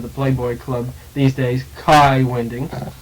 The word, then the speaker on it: Kai Winding: playboy club these days kai winding i'm told that's the correct danish pronunciation it is thank you dan ted calls him kai wingling i was once on